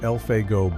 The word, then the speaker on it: Elfego: It involves a law man who was a close friend of Wyatt Herp, a man by the name of Elfeo Baka, pronounced Elfgo Baka.